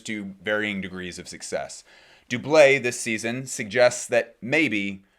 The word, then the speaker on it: doublet: We're going up to Doublé. Some people call it doublet. My understanding is that the official pronunciation is the French Doublé.